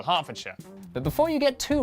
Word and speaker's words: Hertfordshire: Norwich, Berwick, Southwark, ER is pronounced R. Berkshire, Clerkenwell, Hertfordshire.